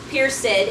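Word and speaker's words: perced: the old English here Pier said has two syllables now so that's the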